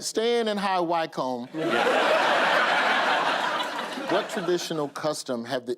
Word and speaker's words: High Wycombe: Staying in high wickham." Did I say it right? Did I say it right that time? Yeah. Yeah, you said it. All right. Staying in high WCOM.